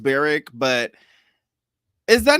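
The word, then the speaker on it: Barrack: is that not funny I'm sure it's pronounced Beric but is that not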